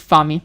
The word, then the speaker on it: f4mi: Is it f4mi or f4mi? The pronunciation is f4mi. I just pronunciate my name like that.